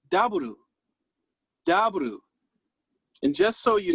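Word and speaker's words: ダブル: It's daburu. Daburu. And just so you know, daburu is actually the Japanese pronunciation for double.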